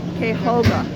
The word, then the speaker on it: Cuyahoga: And as you can see, they say it's pronounced Cuyahoga.